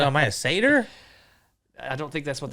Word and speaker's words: satyr: Is it satyr or is it satyr? It is actually pronounced satyr. Interesting.